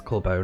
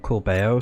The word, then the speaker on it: Corbo: And also I found out um Corbo is Corbo, not Coro. So I might have been saying his name wrong.